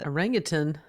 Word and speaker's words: orangutan: The audience brings movies, and we watched Dunstan Checks In about a orangutan and Orangutan. orangutan. That's actually the correct pronunciation.